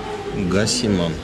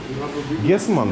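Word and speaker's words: Giesemann: Что это, кстати, Гасиман? Гиземанн. Прекрасный танк. Гисеманн, да, именно так это произносится правильно.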